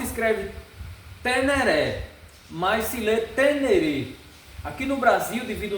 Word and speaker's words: Ténéré: essa essa esse peso de sempre falar teneré pelo nosso português e começar a falar tenerê, que é a o nome, a origem do nome, é como se se pronuncia o nome, certo? Então, a lógica do nome brasileiro é tener devido os assuntos, mas o a origem do nome, a pronúncia do nome verdadeira é tenereê.